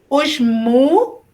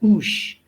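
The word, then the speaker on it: ושמואל: There are certain prefixes, like the word and is u. Yes. Mostly we've learned that we would close a syllable and pronounce it oosh. That might be we might be tempted to pronounce it that way because most of the time that's how we've learned to read our Hebrew, is when when a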